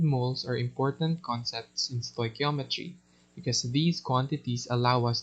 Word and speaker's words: stoichiometry: english element and metron which is measure formally stoichiometry is defined as the study of the quantitative